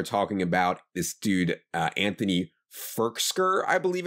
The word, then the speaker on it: Firkser: I mean, first of all, you're adding a K to his name. It's Firkser. Okay, sorry. Not Firkser. Firkser. Firkser. Pronounce it right. He didn't go to Harvard for 4 years to be called Firkser.